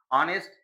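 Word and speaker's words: honest: ऑनेस्ट ये तो consonant से स्टार्ट हो रहा है। लेकिन इसका उच्चारण जब बोलोगे तो आ निकलेगा।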